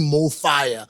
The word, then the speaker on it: MoFaya: to pronounce this word it's pronounced the same in any language in any country right and we're inspired